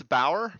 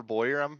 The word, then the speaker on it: Bauer: It's Bauer, but we'll settle for Boyer.